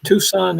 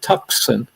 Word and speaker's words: Tucson: and your contact information tucson eric's on arizona the only way that i can remember how to spell it is to pronounce it tuxen yeah me too but it's not and notice we have